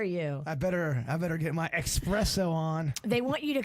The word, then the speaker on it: espresso: And Nick said, can you let Jbird know there's no X in espresso?